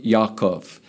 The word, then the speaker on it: Yaakov: We call it in the English culture James, but it's actually his name is Jacob, in Hebrew, Yaakov.